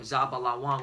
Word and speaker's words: Zebulun: All right, you're from the tribe of Zebulun. All right, or Zabalawan, which means dwelling.